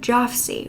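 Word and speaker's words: Jafsie: time under the code of joffsy which was just the actual pronunciation of his own initials which were jfc the ad read money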